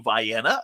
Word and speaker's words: Vienna: length of the state from metropolis illinois through vienna that's how it's pronounced through harrisburg and carmi uh effingham champaign